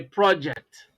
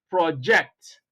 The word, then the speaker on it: project: speech if you like when you place stress on the first syllable of this word then you are talking about something a project project but when you play stress on the second syllable of the same word then you are no longer talking about something you are talking about an action you know a verb project to project something is